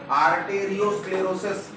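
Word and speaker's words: arteriosclerosis: उसमें most commonly मिलता है अपने को आर्टेरियोस्क्लेरोसिस। आर्टेरियो एथेरोस्क्लेरोसिस नहीं बोलते उसे, आर्टेरियो स्पेलिंग की तरफ ध्यान रखना है, ठीक है।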